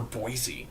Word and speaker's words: Boise: you say Boise I I knew someone who would say boisey like like over pronounce it which was kind of weird to me I'm like what what is wrong with you why why are you not saying Boise now I'm like my